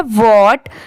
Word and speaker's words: what: ठीक है, ये है वॉट WHAT। इसे पढ़ेंगे वॉट।